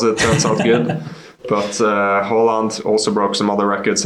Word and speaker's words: Haaland: And you are, I'm not going to try to pronounce his name well. Is it Erling Haaland? Yeah, Haaland.